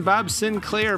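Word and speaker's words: Bob Sinclar: wouldn't get it in Bob Sinclair pronounced like the old computer uh this was definitely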